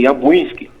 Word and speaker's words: Jabłonski: Então tem muitos Jabłonski, a gente ainda poloneses pronuncia assim, Jabłonski, tá?